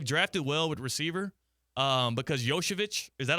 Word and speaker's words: Iosivas: They've drafted well with receiver because Yoshevich, is that how you say his name? Yeah. Yoshi? Yeah, I didn't know that's how you pronounce his name until last night. Yeah. I was saying Iosivas, like in fantasy football.